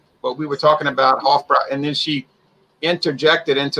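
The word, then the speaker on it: Hofbräu: talking to her but we were talking about hofbrau and then she interjected into the conversation and said it's pronounced hot broy puffbroin i said okay okay comes in at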